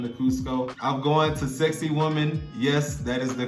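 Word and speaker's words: Sacsayhuamán: if they come to cusco i'm going to sexy woman yes that is the correct pronunciation i'll put the spelling somewhere below but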